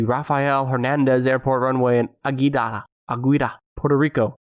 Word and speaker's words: Aguadilla: hernandez airport runway in aguida aguirre puerto rico spell that word a g u a d-i-l-l-e-a so the end is like quesadillas the object did not give